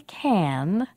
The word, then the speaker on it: can: a little tricky too when we say can we almost don't say the vowel the ah at all the word sounds like listen i can tell he can count